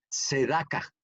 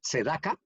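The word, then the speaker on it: צדקה: Primero les voy a decir que la palabra justicia viene del hebreo que se llama tzedaka. Así se escribe con T, T-S-E-D-A-K, tzedaka.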